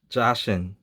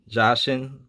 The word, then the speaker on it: Jacinthe: Another card I got is Jashin. I think that's how you're supposed to pronounce her name. Jacinth. Jason. Jason. I try to pronounce it the same way the gemstone is, Jashin.